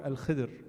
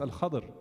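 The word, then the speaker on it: الخضر: When did Musa alayhi salam meet Al-Khadr alayhi salam? Al-Khadr or Al-Khidr, more commonly actually pronounced Al-Khadr in Ahadith.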